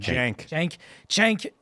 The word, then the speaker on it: Cenk: Cenk.